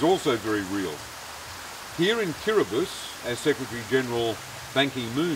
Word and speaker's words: Kiribati: I'm here in Kiribati with the president of this small island country, President Tong.